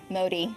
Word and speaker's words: Modi: Modi. Modi, I was right. My default is pronounce something in Spanish.